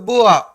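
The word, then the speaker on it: Beauvoir: जैसे लिखा होता है सीमन द बुआ, राइट?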